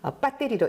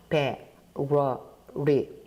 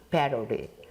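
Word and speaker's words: battery: 예를 들어서 건전지를 한국식 발음, 즉 콩글리시로 발음하면 배터리로 읽게 되는데 한글화된 발음 기호로 읽으면 미국식 발음인, 제가 좀 천천히 발음을 해보죠. 배러리, 좀 빨리 읽게 되면 배러리, 이렇게 읽게 됩니다.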